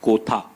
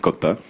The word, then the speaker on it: Kotha: guys to tell them it is King of Kotha and not the usual Hindi pronunciation. So it's in the film Kotha, in Malayalam it's Kotha.